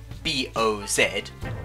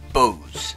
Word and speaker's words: Boz: called sketches by bows though since it's spelt b-o-z b-o-z for you americans not many people realize it was supposed to be bows so it's usually called sketches by boz this went down pretty